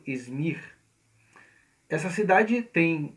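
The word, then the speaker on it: İzmir: tendo o mesmo nome é o nome da cidade hoje é pronunciado izmir essa cidade tem 4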